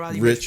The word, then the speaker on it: Roddy Ricch: Are you sure it's not Rick?